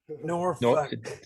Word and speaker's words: Norfolk: Norfolk.